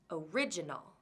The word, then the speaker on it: original: Original has 4 syllables total. Original. It has second syllable stress.